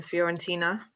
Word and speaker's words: Fiorentina: So that was when he went to, again, I'm not good with my pronunciation, Fiorentina.